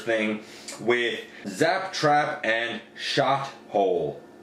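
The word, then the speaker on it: Shothole: with zap trap and shot hole sh o th o L II that's how it smell don't mispronounce it um so those three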